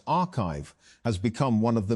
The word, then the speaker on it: arXiv: Although papers are posted to the site before they are peer-reviewed, arXiv, pronounced archive, has become one of